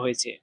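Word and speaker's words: 活: তারপরে হুয়া, হুয়া, এই শব্দটাতে চাইনিজের 2 নাম্বার টোন ব্যবহার করা হয়েছে। 2 নাম্বার টোন উচ্চারণের নিয়ম হচ্ছে নিচ থেকে উপরে। এই শব্দটা উচ্চারণ করার সময় নিচ থেকে উপর দিকে উঠবে। এটা হচ্ছে চাইনিজের 2 নাম্বার টোন, হুয়া, হুয়া।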